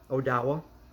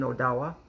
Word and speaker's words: Odawa: Odawa, you might know it is Ottawa. It's a different pronunciation, Odawa.